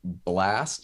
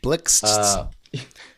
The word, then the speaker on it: Blixt: Next up, we have a single from Buddy, Wait Too Long, featuring Blast, is I think how you pronounce it. Blixt. Yes.